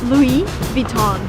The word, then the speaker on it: Louis Vuitton: is from there so the right way to pronounce the name of the shop is louis vuitton again everything is french come on so everything needs to be pronounced in a french way if you want to